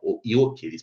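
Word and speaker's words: Gyökeres: Yok elis parece que ele não não se pronuncia o G, que é atacante agora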